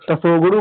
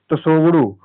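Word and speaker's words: Tshogdu: संसद को तसोगुड़ू कहते हैं दोस्तों, टी इसमें साइलेंट होता है, तसोगुड़ू।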